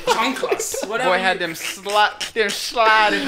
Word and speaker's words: chanclas: I had my chicletas. Did I say it right? What the I fuck said is it right. Your chanclas. My chanclas. Yeah. As you say it the proper way.